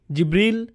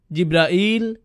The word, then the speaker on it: জিব্রাইল: উচ্চারণ করেন তার নাম জিবরীল জিব্রাইল জিব্রাইল জিব্রাইল জিবরীল এই পাঁচ ভাবে তার নাম উচ্চারণ করা হয় আর এটা বিভিন্ন কিরাতের